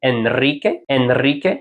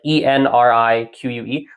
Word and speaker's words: Enrique: Because the problem is N, and R, those two are very close together. It's actually difficult to transition between the two letters.